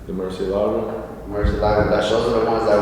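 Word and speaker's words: Murciélago: But at that time, I think only Huracan and, how do you pronounce it? Which one? The one starts with M. The Murcielago? Murcielago.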